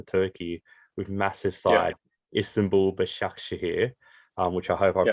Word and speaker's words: Başakşehir: So you took the opportunity to move to Turkey with massive side, Istanbul Başakşehir, which I hope I pronounced pretty good.